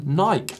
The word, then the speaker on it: Nike: Yeah, last week's show, someone picked up on my pronunciation of the brand Nike, or Nike, as we like to call it here in the UK.